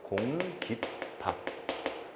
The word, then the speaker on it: 공깃밥: 그러니 여기는 사이시옷이 붙어서 공깃밥. 발음은 공기밥. 발음은 공깃밥으로 된소리가 사이소리에 의해서 나는 것이죠.